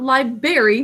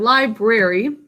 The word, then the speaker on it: library: Not library, but library. This one does not have silent letters, even though some people pronounce it library.